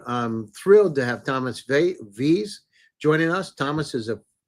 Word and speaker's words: Vles: My last name is hard to pronounce though, so it's Vles. Um, Less?